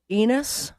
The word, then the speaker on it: Enos: This town was called Enos. Rhymes with penis, Elin, but without the P.